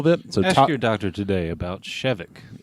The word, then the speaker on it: Shevek: air talk were I the way I pronounce their names is like I always stressed the first syllable I try to make it sound like a medicine or something like that